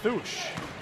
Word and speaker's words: Tausch: I think we've both been saying her name wrong. They're saying Thusch Really? at the scorer's desk.